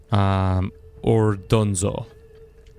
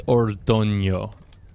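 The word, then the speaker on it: Ordoño: Ordonzo. Or it's Ordonio. Ordonio is actually how you would pronounce that.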